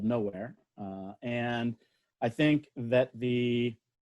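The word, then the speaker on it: Knowhere: I have a business called Nowhere.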